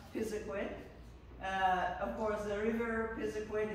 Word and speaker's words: Pisiquid: Pisiquid is spelled 60,000 different ways and pronounced just about as many times, but we're going to settle on Pisiquid.